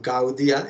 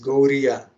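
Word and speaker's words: Gaudiya: If you know how to pronounce with softer, like in Gauria, it is not Gaudia, it is Gauria.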